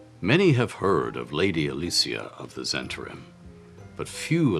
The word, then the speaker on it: Alicia: her given name to Alicia [in her case, pronounced “Al-LEE-see-ah”].